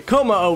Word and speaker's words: Kommo-o: Kommo-o, is that how you pronounce it? Yeah, Kommo-o right here.